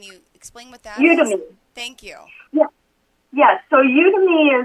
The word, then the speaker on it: Udemy: on, I may not even know how to pronounce this, Udemy or Udemy. Can you explain what that is? Udemy.